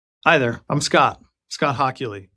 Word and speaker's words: Hochuli: Scott Hockley. It's pronounced Hockley.